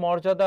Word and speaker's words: মর্যাদা: তাহলে এখানে কি হবে বলো তো? মো হবে। আর রেপ থাকলে সেখানে কি হয়? র হয়। উচ্চারণে অন্তর্জয়ের ব্যবহার নেই, সেক্ষেত্রে কি হবে বলো তো? বর্গীয় জ হবে। মোর যা দা, এটি হচ্ছে তোমার উচ্চারণ, এটি হচ্ছে বানান।